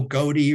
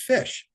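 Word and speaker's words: ghoti: it down and say pronounce it for me and people say oh goatee or something like that I said no the word is fish and they say fish that's crazy how is that fish well the GH as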